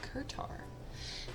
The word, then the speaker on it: Kurtar: I keep saying it wrong, but it is Kurtar.